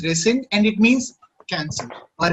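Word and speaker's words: rescind: yes sir it's called resend okay okay it's pronounced as resend and it means cancel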